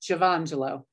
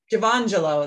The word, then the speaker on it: Giovangelo: Giovangelo. Close enough. It's more of a just Giovangelo. Giovangelo, that's it.